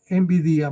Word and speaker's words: Nvidia: Resulta que una compañía que se llama Nvidia no como la envidia que es común en los colombianos, sino envidia más o menos, es la forma de pronunciarlo.